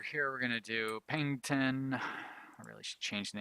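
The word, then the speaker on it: Paignton: And then over here we're going to do Pengton. I really should change the name of that town so I don't keep mispronouncing it.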